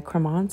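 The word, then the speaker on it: Krementz: it was a three-piece set by cremons I believe is how you pronounce it um k-r-e-e-m-e-n-t-s or TC excuse me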